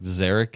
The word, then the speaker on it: Zarek: Every time somebody calls and says, is Zeke there? I'm like, Zarek is here.